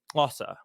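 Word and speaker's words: Xhosa: natively in english but i'm pretty sure it's like klausa right that's how so there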